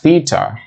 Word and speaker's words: theta: So this angle, this theta, that is how you pronounce this Greek symbol thingy, it's theta.